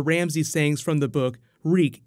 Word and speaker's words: Reek: Reek, it rhymes with weak, as he jumps overboard.